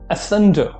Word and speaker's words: asunder: सो the next word is asunder. Asunder. Okay, the next word is asunder. Asunder का मतलब क्या होता है? asunder के प्रोनाउंसिएशन में सन जो है उसके ऊपर आपको थोड़ा सा स्ट्रेस देना है.